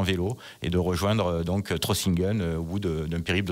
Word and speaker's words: Trossingen: Vous avez même prévu un petit périple de 430 km à l'automne jusqu'à Trossingen. Je ne sais pas si je le prononce bien. On dit Trossingen. Trossingen, c'est plus allemand, oui.